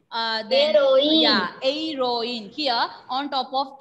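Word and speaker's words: héroïne: So when H will be silent, think that H is not there. Then the remaining letters are E. Aeroine.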